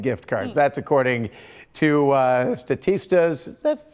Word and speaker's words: Statista: That's according to Statista's, that's how you pronounce that, or the Consumer Insights Report.